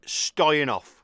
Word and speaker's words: Stoyanov: It's been about three years and it's the awesome Mike Stoyenoff. Hello. Very, you pronounce my name just perfect, mate.